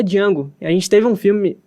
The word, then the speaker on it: Django: Ele começa a falar o nome dele, ele fala, não, eu sei que o D é mudo. Então tem aquelas referências muito bacanas sobre um protagonista negro. Realmente existiu o Django de verdade, né?